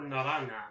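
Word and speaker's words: naranja: I'm not mistaken or is it pronounced Nar or narana it's Naran it's Naran J is pronounced as an H in uh in Spanish are there any hes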